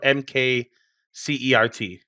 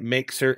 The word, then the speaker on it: mkcert: We're talking about mkcert this week, which is how I believe you pronounce it, but it's spelled mkcert.